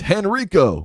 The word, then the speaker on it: Henrico: Or in Richmond and Henrico. No, you did not you didn't say it right. What? You didn't say that county right. It's Henrico. Oh. Go ahead. Henrico, how about that?